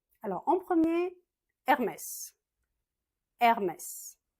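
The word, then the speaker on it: Hermès: Hermes, on prononce pas le H en français, juste Hermes.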